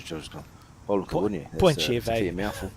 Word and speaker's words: Point Chev: Point Chev, a fair mouthful. Point Chev's 2 syllables. Point Chev, a little bit quicker.